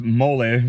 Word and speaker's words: mole: taqueria Momo he had mole whack-a-mole mole is awesome it's actually pronounced moly for those you who don't know it's a Mexican sauce